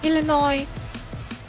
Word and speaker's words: Illinois: __ ] cargo and the s in illinois isn't pronounced there is another thing